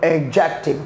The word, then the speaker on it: adjective: That is not okay because इसमें जो हमारा D है इसको करते हैं हम क्या? Silent.